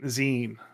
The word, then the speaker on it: zine: Zion is so ZN sorry not Z Zen it's it's pronounced a z z i n e yes I absolutely know